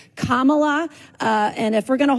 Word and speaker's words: Kamala: So anytime you hear these white folks, especially these white women who purposely call Kamala instead of Kamala, you know what I'm saying?